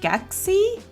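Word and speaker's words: Skeksis: And funnily enough, Skeeksis is pronounced sexy. It's pronounced skexy? That's bizarre. Just with the K in there. Skexy.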